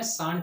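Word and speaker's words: shan't: शैल note को हम शॉर्ट में शांट बोलते हैं, SHANT शांट बोलते हैं।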